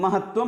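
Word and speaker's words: महत्त्वम्: जुक्तत्वम महत्वम, महत जुक्तत्वम महत्वम होता है। इसीलिए यहां पर क्या होता है, महत्वम में त का दो बार उच्चारण हो रहा है और उसे दो बार ही लिखना चाहिए।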